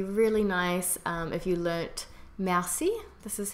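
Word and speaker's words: merci: it would be really nice if you learnt mousy this is how you say thank you Massey Massey Massey Siebel play is pleased you can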